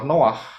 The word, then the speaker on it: Noah: lanjutkan nah ini ya bahasa Indonesianya Nuh begitu ya tetapi sebetulnya adalah Noah karena ada dari dua huruf ingat ya bacanya dari kanan Noah ya Noah yaitu